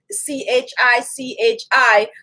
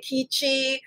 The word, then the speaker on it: Khichi: just like k so some people say kichi or um but most people that is familiar with it would be like chichi but chichi is the